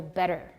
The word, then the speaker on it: better: so example for example better better we've got tea turning into a tap and a is not stressed right better but for example petition